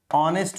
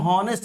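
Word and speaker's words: honest: ये बहुत आप जानते हैं, एन ऑनेस्ट होता है, क्योंकि इसको हम हॉनेस्ट नहीं पढ़ते, ह नहीं पढ़ते, इसका उच्चारण है आ से होता है, ऑनेस्ट टाइप का आता है, ऑनेस्ट ये आता है इसका उच्चारण।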